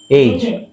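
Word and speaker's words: age: ಗೆ ಅಂತ ಆಗುತ್ತಾ ಇದಏನಾಗುತ್ತೆ ಎಜಿಇ ಏನಾಗುತ್ತೆ ಇಂಗ್ಲಿಷ್ಅಲ್ಲಿ ಏಜ್ ಹೇಗೆ ಅಲ್ಲ ಎಜಿಇ ಏಜ್ ಏಜ್ ಏಜ್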